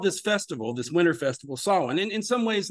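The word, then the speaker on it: Samhain: but in in gaic I've been told it's pronounced Solin um and this was their their new year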